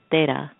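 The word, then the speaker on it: तेरह: And in Indian culture, in Hindi, 13 is pronounced as Tera.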